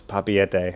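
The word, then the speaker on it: Papeete: I wanted it to and I was told, "Oh, no, no, it's papete." I was like, "Okay, that works." Are they very judgy of of your pronunciation?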